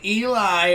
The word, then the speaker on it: Eli: Just saying Eli rhymes with cry, and he was always crying mostly on the inside, but you could see it on his face.